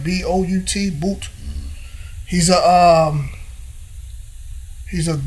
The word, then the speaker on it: Bout: his name Victor boot or boot are you pronouncing right b-o-u-t boot he's a um he's a gun was it